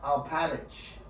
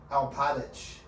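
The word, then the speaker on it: Alpatych: Spell it. Alphatych. Alphatych? Oh, hey, Yakov Alpatich. That's a name, right? Garn Alpatich. That's his last name. Yakov is his first name, okay? Yakov. Y-A-K-O-V. Alpatich.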